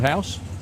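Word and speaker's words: Huis: please yeah that's Ronald house it's funny actually because his name is spelled h-u-i-s yeah he's obviously the dust version as I said to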